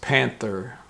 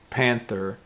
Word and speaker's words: panther: color is black but it's pronounced panther panther so this th sound is a little bit different than a month because month that the tongue is a little bit more through the teeth like this well panther the tongue